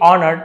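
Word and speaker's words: honoured: After the ceremony समारोह के बाद goddess Parvati ऑनर्ड Rawna and said देवी पार्वती ने ऑनर्ड एस साइलेंट है।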